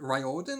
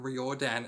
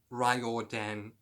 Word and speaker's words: Riordan: it's rile rile Dan Riordan or something I've been saying it wrong all this time by saying reordan and I do apologize but it looks like it's felt reordan but it's Riordan or something anyway so in March